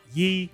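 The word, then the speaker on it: 一: As I understand it, it's pronounced Yi. Excuse me, anyone that speaks Mandarin, but it's Yi, which is one.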